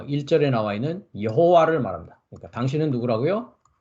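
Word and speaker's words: יהוה: 어 1절에 나와 있는 여호와를 말합니다 그러니까 당신은 누구라고요 예호바 히브리 발음은 예호바 있니다 한글은 이제 여호와 이렇게 돼 있고요 예 그러니까 여호와 당신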